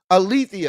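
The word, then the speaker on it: Althea: you ala wait no I I said that woman's name wrong I I probably said I think it's uh I think I was right hold on althia excuse me not Alia althia althia girl we got your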